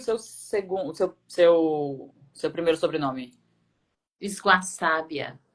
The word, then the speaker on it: Sguassabia: Ingrid, como é que eu pronuncio o seu segundo, seu primeiro sobrenome? Esguaçábia. Esguaçabia. Italiano. E de onde que Isso. é esse sobrenome? Italiano, Italiano. italiano. Esguaçábia.